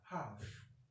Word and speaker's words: half: Sai example na uku muna da half. Ita ma ga yadda ake transcribing nata. Half, kar ku ce half. Okay? This L is silent.